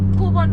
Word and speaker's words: Cockburn: minutes देखाइरहेछ कक वन But it's spelled like this, COCKBURN, जुन चाहिँ कक नै जस्तै हो कक नै भन्छ बट कोबन भन्दो रहेछ कि आई डोन्ट नो वाइ